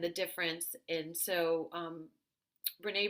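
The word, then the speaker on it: Brené: difference and so um Renee Brown is spelled b-r-e-n-e Brown is her last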